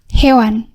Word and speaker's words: Hewan: So thank you so much again, and please correct again my name and pronounce it as Hewan.